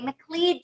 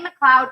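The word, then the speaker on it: McLeod: have play macleod chapman i thought that you pronounced that clay mclead chapman and i'm so glad i got clarity on that uh clay mccloud chapman what a name what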